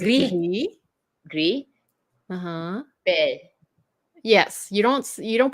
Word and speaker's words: gris: So the letter I in French is actually pronounced E. Gris. Yes. Gris. Which is why when a lot of people say Greece, you don't say the S, right?